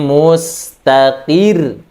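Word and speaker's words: مستقر: Contoh pertama adalah wa kullu amrin mustaqir. Mustaqir, dikeraskan suaranya, ya, ditekan lagi, dihentakkan lagi suaranya. Ya, ini adalah an-nabr. Bukan bacanya mustaqir, itu tidak nabr, tapi mustaqir, dikuatkan lagi suaranya.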